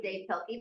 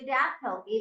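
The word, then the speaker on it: Dav Pilkey: and it's not D I thought it was Dave py but it's really DB pky but everybody still pronounces his name wrong it's DB pky he has some books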